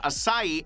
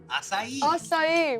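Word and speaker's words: açaí: In the early 2000s, an American food company, Monavi, called acai a superfruit that treats cancer, heart disease, and strengthens the brain and erections.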